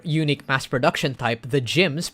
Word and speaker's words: GM: mass production type the gyms pronounced GM or spelled GM St